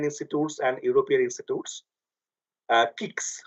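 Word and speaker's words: CIXS: and European institutes uh kicks we don't call it c on exess it is called Kicks C for Jan one for one Jan one we pronounced as kicks Sara another instrument that United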